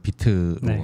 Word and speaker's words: Vite: 예, 비트가 이제 그 VITE 이제 발음은 비트로 하는데 이제 계보라고 하긴 그렇지만